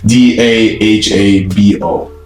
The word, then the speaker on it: Dahabo: to work on it it's d a h a b o d okay so dahabo I believe is the correct pronunciation so always make sure